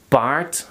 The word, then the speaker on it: paard: But in Dutch, the D becomes a T. They don't like the D at the end. So they say hart, paard, gerend, rond, moord.